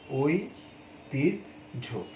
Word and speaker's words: ঐতিহ্য: তাহলে এটার উচ্চারণ হচ্ছে ওই তিজ ঝো, ওই তিজ ঝো, এইটা হচ্ছে উচ্চারণ।